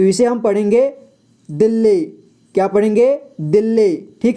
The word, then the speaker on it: दिल्ली: इसे देखिए दोस्तों, कुछ लोग इसे क्या करते हैं कि दिल्ली पढ़ देते हैं, ठीक है। या फिर कुछ ऐसे शब्द होते हैं जिन्हें वो 2 बार उच्चारण कर देते हैं, लेकिन वैसा नहीं करना है, इसे दिल्ली पढ़ना है एक ही बार में, ठीक है, दिल्ली।